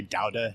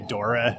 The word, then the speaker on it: Daura: to find Dauda and I think they say Dauda in Barcelona, like that's the Catalan pronunciation. Oh, okay. Yeah, they'll look at you weird if you say Dora or Daura.